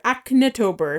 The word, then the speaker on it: ACNHtober: Yeah, so just search for that adorable hashtag ACNHtober, Acnetober, if you want to pronounce it like I am.